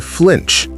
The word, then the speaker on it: flinch: To flinch. Flinch. To flinch. Make sure that vowel sound is not an e sound.